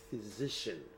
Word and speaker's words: physician: توجه بکنین که PH در انگلیسی تلفظش F است. یعنی وقتی که شما PH در شروع لغت میبینین او رو باید F تلفظ کنین. از اون خاطر است میگن که PH is F.